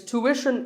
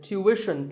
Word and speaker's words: tuition: It's tuition in American English and tuition in British English. So what's the hidden sound here? Well, the first syllable is easy. Tu, American, or tu, British. But after that, it's not ishin, it's wishin. Tuition. You have to put the w sound there. So, tuition.